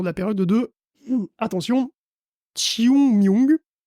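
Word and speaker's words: 清明: Ces services voient un pic de fréquentation autour de la période de, attention, Chiung-myung. Ça s'écrit King Ming, mais bon voilà, ça se prononce un truc comme Chiung-myung, parce que même avec la prononciation YouTube, j'ai quand même beaucoup de mal, désolé.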